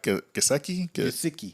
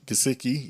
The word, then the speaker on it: Gesicki: You know how to say his last name, the tight end, Mike Gesicki. Gesicki.